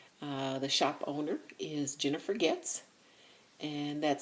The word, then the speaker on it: Goetz: creations by jinx the shop owner is Jennifer gifts and that spelled goe TZ but it's pronounced GE TS and Jennifer is local to